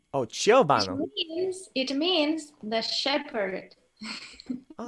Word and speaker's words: Ciobanu: really hard to pronounce these names correctly. Um, Ciobanu. Ciobanu. Oh, Ciobanu. oh, Ciobanu.